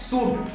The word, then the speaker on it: should: इसी तरीके से नेक्स्ट वर्ड है शुड, SHOULD। यहाँ D से पहले L आ रहा है, इसीलिए यहाँ भी L साइलेंट होता है और इसे हम शुल्ड ना पढ़ के शुड पढ़ते हैं।